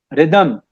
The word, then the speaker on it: rhythm: रिदम, रिदम, RHYTHM, दम नहीं होता यहाँ पे, बाद में वाई नहीं आता है इसमें, तो RHY, एच साइलेंट है नो डाउट, तो रिदम पढ़ा जाता है, तो रिदम, रिदम।